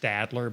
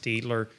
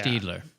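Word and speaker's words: Staedtler: Um it looks like it's pronounced Stadler, but I think it's a German company. It's actually pronounced Stler. It's like between an E and an A. Yeah. Steedler.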